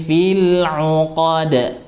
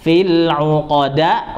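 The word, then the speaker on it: فِي الْعُقَدِ: Makanya bacanya wa min syarrin naffatsati fil 'uqad. Ya. Fil 'uqad, bukan fil 'uqada, bukan fil 'uqad, bukan, tapi fil 'uqad. Jadi setengah fathah.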